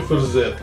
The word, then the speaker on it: Verzet: Отсюда и буква «T», которая указывает на античность употребления слова, но при этом не произносится, разве что очень мягко, почти условно. Ферзет.